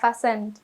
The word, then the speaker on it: fasten: ង គ េ អ ា ន ថ ា fasten ច ា ខ ្ ញ ុ ំ ក